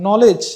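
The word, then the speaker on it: knowledge: বলে আমরা তখনও বলেছিলাম নলেজ নলেজের মধ্যে কিন্তু কে থাকে কে এটা আমরা সাউন্ড করি না কে এটা সাইলেন্ট থাকে এমনি ভাবে এখানে তুয়ানের ইয়াটা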